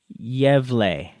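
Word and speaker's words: Gävle: Let me just look it up on YouTube real quick, and hopefully I can pronounce it correctly. Yevle.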